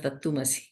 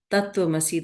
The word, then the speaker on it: Tattvamasi: I never heard of Tattumasi. What she was saying is Tattvamasi, but she was not pronouncing the words correctly, and she's saying Tattvamasi. Remember, I was saying in the talk, Tattvamasi.